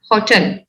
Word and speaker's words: hotel: It's hotel, hotel, hotel. It's not hotel.